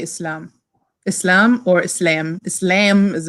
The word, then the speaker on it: Islam: because she doesn't say Islam she says Islam but and then people were it's not Islam like lamb actually it's in Egyptian that's how you pronounce it and I guess because